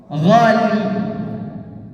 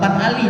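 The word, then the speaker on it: غالي: Ghali itu bukan ali, tapi ghali.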